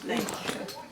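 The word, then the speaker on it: Neima: Naima. Naima? Naima. Oh, that's nice. Naima.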